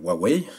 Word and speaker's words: Huawei: donc ce sont les applications intégrées donc de huawei je le prononce bien maintenant donc voilà c'est très old